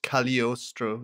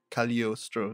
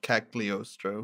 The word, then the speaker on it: Cagliostro: I believe that they are using the like Italian pronunciation of the GL, so it's Cagliostro, like Cagliostro, not Cagliostro.